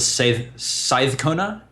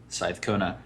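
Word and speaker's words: seiðkona: Now that special character in the middle there, it's pronounced like a TH. So it's the Scythe Kona? Side Kona. Yeah. All right. Scythe Kona.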